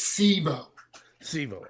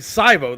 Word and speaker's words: Sivo: time I would say how do you say your last name it's c SEO okay because I was saying syo that's what I thought